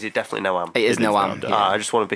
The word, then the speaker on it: Noam: I'm terrible with pronunciation, so I'd go with Graeme. Is it definitely Noam? It is Noam.